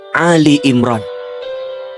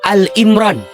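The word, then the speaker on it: آل عمران: Dan ingat, ketika membacanya bukan Al Imran tapi Ali Imran. Kalau Al Imran maknanya Imran sendirian. Tapi kalau Ali Imran berarti keluarga Imran.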